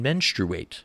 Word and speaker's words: menstruate: there that men can menstruate, as he likes to call it. I personally don't like to pronounce the U, but I'm going to go with it here for the sake of quoting Mr.